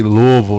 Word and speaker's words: Louisville: here say it and we say it like you have a box of marbles in your mouth Lille Lille so all right let's go